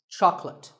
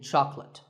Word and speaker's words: chocolate: this at the store make sure that there are only two syllables Chuck and let chocolate and remember there's no late in chocolate speaking of chocolate how